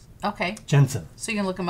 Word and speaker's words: Jentezen: He has an unusual spelling. It almost looks like Jentezen Franklin. Yeah. But it's always just pronounced Jensen. Okay. Jensen.